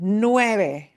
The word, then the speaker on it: nueve: The word nueve, getting the vowels right is key. Nueve is 9. The concept of 9. Nueve. You should end nueve with a smile.